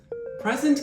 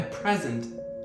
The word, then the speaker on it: present: Present can be a noun, a gift or a verb to give a speech and the stress changes accordingly. A present noun to present verb.